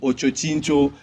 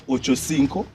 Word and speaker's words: Ochocinco: um Eric Muller's nickname is the way people pronounce it just bothers me I hear people saying Ocho chinto like what like do people I'm sorry for even classic but do people actually know that that is Ochocinco and that it means 85 people ever do